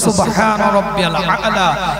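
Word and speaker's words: سبحان ربي الأعلى: নিশ্চয় ভিতরে স্লিপ মারে, কিন্তু আসল উচ্চারণ হচ্ছে সুবহান রাব্বিয়াল আলা।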